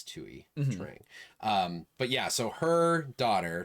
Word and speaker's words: Thuy Trang: I will say, I believe it's Thuy Trang, by the way. I believe that's how you say her name. It's Vietnamese. Thuy. I think it's Thuy Trang.